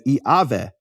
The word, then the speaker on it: Yahweh: But Yahweh actually would be pronounced in certain periods of history of Greek as Iaveh.